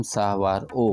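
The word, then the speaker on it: saguaro: cornea जागें सिया की जिसके कॉमन नेम की स्पेलिंग है एस ए जी यू ए आर ओ लेकिन जी साइलेंट है तो इसे हम सावार ओ पढ़ते हैं इसमें साइड ब्रांचेस होते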